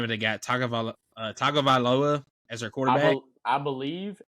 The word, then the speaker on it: Tagovailoa: how you actually say his first name, but they got Tagovailoa as their quarterback.